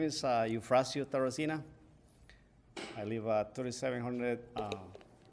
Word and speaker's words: Eufracio: Maybe I can spell it for you. It's EUFRACIO. Eufrasio.